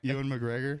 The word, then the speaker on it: Ewan McGregor: Ewan McGregor.